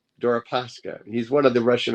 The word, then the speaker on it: Deripaska: I always get his name wrong. Deripaska. Deripaska.